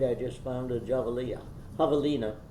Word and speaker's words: javelina: know you know english english often carries over the pronunciation if it can and javelina and all we have to do and we can easily carry over the j because it's an h in english right someone just reading